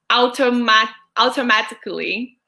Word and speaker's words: automatically: Adailton is asking us, could you pronounce, please, the word automatically? Automatically. Yes, thank you. I'm in a hot seat here right now. It's more the sound of an O at the beginning. Okay. So, automatically.